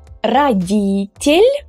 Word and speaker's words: родитель: So here we have a rule, a Russian pronunciation rule, which is called the unstressed о rule. So in this word, the vowel о is unstressed because the stress falls on e, родитель.